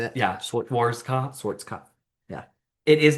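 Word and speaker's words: Schwarzkopf: Schwarz cuff.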